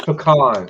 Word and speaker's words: pecan: She says pecan, and I can't. I'm from the South, and I'm It's Southwest. pecan. It's pecan. I'm sorry. But I hear it here pronounced both ways.